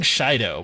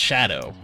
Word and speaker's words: DJ Shadow: We keep saying Shido, but I know it's pronounced Shadow, but the reason I